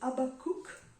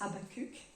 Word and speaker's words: Habakkuk: L'auteur de l'épître aux Hébreux le cite, mais le premier à faire cette déclaration, c'est Habakkuk, c'est comme ça qu'il le prononce en hébreu, mais les Français disent Habakkuk.